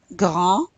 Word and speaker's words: grand: Grand, don't pronounce the D.